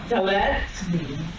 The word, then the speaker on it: Dalet: The way we pronounce it is Dalet.